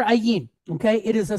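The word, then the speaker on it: ע: So Ayin, it's a silent letter just like Aleph. Okay, so. It's going to take on whatever nikud or whatever vowel point is attached to it.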